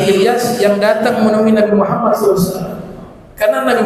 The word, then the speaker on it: Muhammad: harus wajib mendatangi nabi Muhammad sallallahu alaii wasallam karena magamnya Rasulullah Muhammad bacanya Muhammad yang benar tu Muhammad ya kadang-kadang kalau cepat-cepat yang Betulnya muhammadah itu ada Sir bukan Muhammad Muhammad ada tasjid nabi Allah Muhammad Sallallahu Alaihi